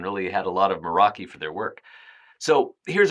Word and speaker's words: Meraki: Moroi. And again, I've been known to pronounce this Moriki, but technically it should be uh the Moroi. It's actually a Greek word that refers to a zest or passion.